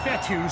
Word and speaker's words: Fetu: fourth down so coach fetty spelled fetu for the longest time i was pronouncing it coach fetta like feta cheese so let's just say